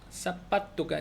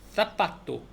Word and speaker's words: zapato: ¿Cómo se escribe zapato? 사파토가 그러니까 세하고 세 알파벳 C도 있지만 그 Z 있잖아요. G도 세 이렇게 가장 대표적인 거 사라 스페인에서는 자라가 아니라 사라라고 한다고 그랬잖아요. 그래서 그 사파토 아주 세게 사파토 요거는 구두란 뜻인데 그 사파토를